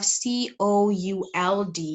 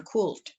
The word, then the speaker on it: could: though here we have C-O-U-L-D, walaupun kita ada C-O-U-L-D, di sini ada L, tapi ketika you pronounce it, when you pronounce this word, when you pronounce this modal verb, the L is silent, ya, is silenced.